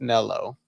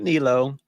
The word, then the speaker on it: Nello: It's Nello, not Nilo, even though Nilo sounds better, but how am I to judge?